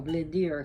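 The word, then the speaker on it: Blindr: he is called brown blindier blind or blindier if you can't roll your r's b-l-i-n-d-r blind i'm not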